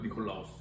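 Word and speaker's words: Νικόλαος: 여러분 헬라어에서는 니콜라오스. 이걸 니콜라오스라고 읽거든요. 니콜라오스.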